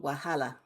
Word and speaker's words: Wahala: you say it my debut novel is called wahala and it kind of tell us what the